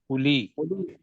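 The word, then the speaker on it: أولي: के थोड़ी सीत चाहूंगा जब अलिफ के साथ वा आ जाता है तो ये वा साइलेंट हो जाता जैसे या जी बिल्कुल ठीक हा उली नहीं है उली बासन शदीद जो सख्त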